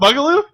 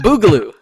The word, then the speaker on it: boogaloo: corona ii electric bugaloo it's not bugaloo it's boogaloo boogaloo but bugaloo works with